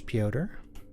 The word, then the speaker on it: Pyotr: For all I know, it could have been pronounced Peter or something like that, but I'm glad we have a little bit of a confirmation on pronunciation here.